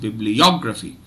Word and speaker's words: bibliography: gets the primary stress so the first and the third syllables are stressed and as usual it's how it's pronounced bibliography bibliography the third syllable will get the maximum energy okay and the maximum duration bibliography okay so based